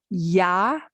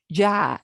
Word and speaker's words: ya: which by the way you may hear as ya or ja ja and both are fine because the pronunciation you hear for ya may have a little ja may have a big ja may have a just completely y sound yeah but yeah has